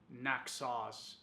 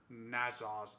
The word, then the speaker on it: Naxos: will be going over Naas or nazas depending on how you pronounce it by zerof and